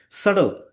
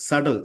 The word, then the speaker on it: subtle: Subtle. Okay. So here the B is silent. The B over here is silent. Subtle.